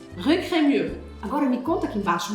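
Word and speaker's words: Crémieux: Esse X do final. Esquece. Cremur.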